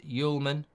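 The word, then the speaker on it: Hjulmand: Homeland and Sporting is pronounced Yulman.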